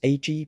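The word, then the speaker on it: ağ: a name was given it was AG pronounced Ag and from this syllable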